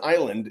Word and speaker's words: island: becomes very confusing like the s in island is silent.